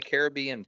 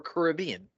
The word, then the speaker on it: Caribbean: currently featured uh featuring The Pirates of the Caribbean films or Caribbean yeah depends on your pronunciation right um after the